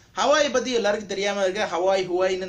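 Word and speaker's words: Huawei: பத்தி எல்லாருக்கும் தெரியாம இருக்கு huawi-ன்னு நிறைய பேர் ஒரு ஒரு உச்சரிப்புல சொல்லுவாங்க நான் hawai தான் சொல்லுவேன் யோட மாடல் இந்தியால பாத்தீங்கன்னா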